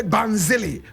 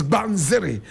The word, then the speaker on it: Banziri: Some people say Banzili. Banzili. But correct pronunciation is Banziri.